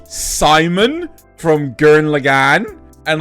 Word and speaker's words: Simon: and not French, like Simon from Gurren Lagann, and like, oh yeah, well they pronounce it Simone, and like, because they can't fucking pronounce Simon. Doesn't have an E on the end.